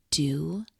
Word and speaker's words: duh: Did you know that the word do, I know it's spelled and looks like duh, but in Slovenian, it means spirit. I mean, how cool is that? And it's pronounced do.